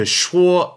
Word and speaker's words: 说: Logically, you'll need something to shuo or to say or to speak. To shuo, S-H-U-O in the first tone.